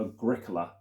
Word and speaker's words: Agricola: And this is one I mentioned in the first video to do with emphasizing the certain letter halfway through the word, and that is the letter C for Agricola.